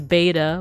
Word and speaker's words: beta: However, once you get to like here, just the second letter, we know it as beta, but apparently it's actually pronounced with a V.